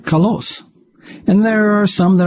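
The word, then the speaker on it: καλός: And some are born with an accent on their ultima, like kalos.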